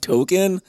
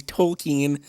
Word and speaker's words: Tolkien: it's literally hard like people who love token tolkien i should say i'm not even saying it right i just say token i say it wrong all the time but i just kind of the way my accent is i guess i just say it say or i guess i just say it wrong that's the way my uh speech impediment is but tolkien i'll say properly tolkien he uh yeah i